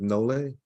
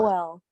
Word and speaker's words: Noel: I mispronounce, I believe it's Nole. I mispronounce her name. I want to hear the correct pronunciation because I know. Noel. Say it again, please. Noel, like the Christmas carol.